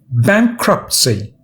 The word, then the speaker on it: bankruptcy: and a few synonyms pronunciation bankruptcy three syllables bank robbed c and the first syllable bank as stressed bankruptcy in law it